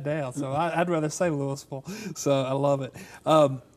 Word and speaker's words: Louisville: Louisville Georgia our home and it should be pronounced Louisville uh-huh but we're dumb Hicks that's like I live in sandy flats all right yeah I got that down so I'd rather save Louisville so I love it um well uh hey